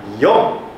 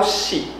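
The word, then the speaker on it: 四: Ichi ni yon atau shi roku nana atau shichi. Saya tadi bilang shichi . Ada juga nana ni san yon nana atau ni shi hachi ju. Oke, ada dua pengucapan.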